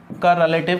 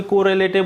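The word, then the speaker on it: correlative: का रिलेटिव conjunction मिलेगा कोई कर रिलेटेड बोल देगा कोई आर को डबल बार प्रोनाउंस कर देगा मैं जो एग्जैक्ट प्रनंसीएशन है सही प्रनंसीएशन है सही उच्चारण है भाई बता रहा हूं आपको कर रहे हैं एलईटीवी कंजंक्शन कॉरिलेटिव कंजंक्शन कॉरिलेटिव कंजंक्शन मैंने आपको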